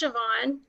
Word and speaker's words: Siobhan: Did I say that right? It's Siobhan.